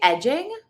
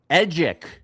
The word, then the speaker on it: Edgic: Did you say edging? Edgic.